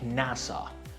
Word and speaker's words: NASA: We pronounce them as one word. For example, NASA, we read it like NASA and stands for National Aeronautics and Space Administration.